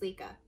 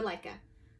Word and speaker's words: LECA: about lechuza pons versus lika or leica however you want to pronounce it today i'm going to